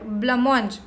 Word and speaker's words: blancmange: Okay, so this word blancmange, this is not pronounced as whatever the spelling is, it's pronounced as blancmange like this.